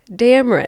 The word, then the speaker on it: Dameron: Where that came from just had to rhyme with Cameron.